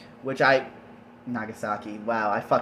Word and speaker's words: Nagasaki: do not see the bombings of Hiroshima and nagasake which I Nagasaki wow I hate myself so